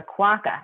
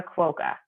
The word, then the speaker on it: quokka: we found that people were that we were mispronouncing the name of the animal it's a quacker it's not a quoka so then we did a reverse radio test